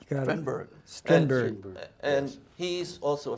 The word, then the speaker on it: Strindberg: mental, can't be here, and that is Peter Stringberg. Yes. Help me pronounce it right. Got it. Strindberg.